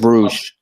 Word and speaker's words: Bruges: Is it Club Brugge? I think it's Bruges. It's Bruges.